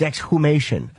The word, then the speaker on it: exhumation: It's exhumation or exhume. I will never say it like that. Okay, I wouldn't either. Stop It's an awkward way to say it, but that is the proper way to say it.